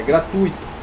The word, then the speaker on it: gratuito: letra aí tá gente porque a gente pensa que a palavra é assim gratuito né gratuito com isso é parado na a de todos os editores aí se houvesse sílabas ele isolado com acento mas não é é gratuito gratuito perto então gente gratuito se torna ou uma paroxítona por isso que não tem acento não existe paroxítonas que